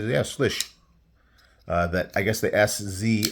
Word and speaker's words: Slysz: And I probably am, But anyway, yeah, he said, yeah, Slysz.